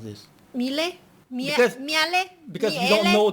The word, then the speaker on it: Miele: And it's not exactly pronounced wrong in English, Miele. but English native speakers usually say something like Miele, Mila. So it usually sounds more like an A in the end, whereas in German we say Miele.